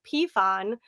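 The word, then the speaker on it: Peaphon: And it's it's really easy because like my last name now it's Pon and it's spelled P E A P H O N.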